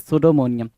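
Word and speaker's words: pseudomania: चलो 12 क्या कह रहा है, सुडोमोनिया, द टर्म इज सुडोमोनियम। सुडोमोनिया बोलते टाइम, सुडोमोनिया बोलते टाइम या सूडो बोलते टाइम हम पी को साइलेंट रखते हैं, क्या करते हैं भाई, पी को साइलेंट रखते हैं।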